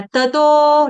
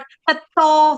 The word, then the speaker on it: ततो: तो इसमें आपने सिंपल पढ़ना है, त तो, नॉट तत्तो, तत्तो नहीं है, तत्तो नहीं है।